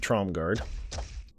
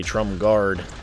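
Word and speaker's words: Tromgarde: ahead and talk with trom garde car not guard as some viewers that I keep saying guard and I think I do I do say Trump guard but trim dark I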